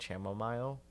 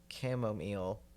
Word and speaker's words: chamomile: camomile it's camo look for the longest time I pronounced it chamomile um I know I know that it's not how you say it it's camomile it's camo camomile I BR a cup of